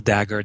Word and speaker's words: Dagher: personal website is dagger. comom e m n l d a g h e r the H is silent yes yes and only